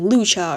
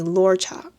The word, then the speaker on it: Luocha: little bit, and then you could just say luocha. And if you omit it, it's like luocha. And then you say it correctly.